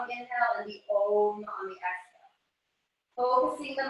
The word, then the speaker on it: om: And as you exhale, the om. It's the A-U-M sound. So ah on the inhale, the U-M on the exhale.